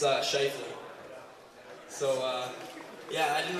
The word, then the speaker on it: Scheifele: to pronounce my last name so um oh pronounce my last name it's uh shle so uh yeah I didn't really get a